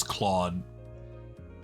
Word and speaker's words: Claude: father of modern tech Cloe Epstein that's not how you pronounce Claude I'm sorry for hiding